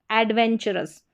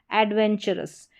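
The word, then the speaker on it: adventurous: तो मोस्टली आपने देखा R के साथ जुड़ रहा है तो रस बोला जा रहा है, एडवेंचरस, एडवेंचरस। तो TU को च पढ़ा जा रहा है, ठीक है।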